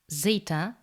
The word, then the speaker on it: zeta: The letter zeta, similar to the zd, like in the word disdain.